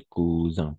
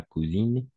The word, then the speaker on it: cousin: Ici, on va prononcer cousin, pas cousine, cousin, d'accord?